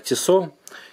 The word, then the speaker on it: Tissot: По поводу подделок Tissot, фирмы правильно вообще читается как Tissot.